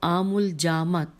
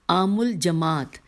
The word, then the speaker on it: عام الجماعت: ہوا اس سال کو عام الجامت لوگوں نے، یہ ہجے کرتی ہوں، اے عین الف میم الف لام جیم میم الف عین تے، عام الجماعت، میں نے غلط پہلے پڑھا تھا، عام الجماعت لوگوں کے